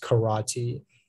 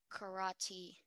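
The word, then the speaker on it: carate: 30 seconds remaining karate can you repeat the pronunciation it's just karate karate c-a-r-a-t-e karate that is correct thank you our next speller is speller 38.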